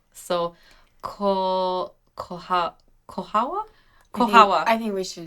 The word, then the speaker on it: Colchagua: I think it's Colchagua. No, they don't pronounce the G. It's like a hua. So, Kohawa?